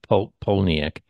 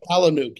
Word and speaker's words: Palahniuk: It's interesting that Chuck, I can never pronounce his last name, Chuck Polniak, you know, Yeah, that Chuck Palahniuk.